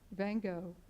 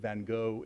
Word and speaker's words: Van Gogh: By the way, I find it saves on cleaning bills if you pronounce it Van Gogh instead of Van Gogh.